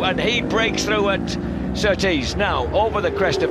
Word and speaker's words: Surtees: he breaks through at Surtees. Now over the crest of the hill. I like the way you say Surtees. I like that. It is a northeastern affliction, emphasising the second syllable.